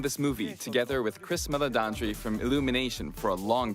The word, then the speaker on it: Meledandri: We've been working on this movie together with Chris Meledandri from Illumination for a long time. That's how you say it. From brainstorming and all the Meledandri.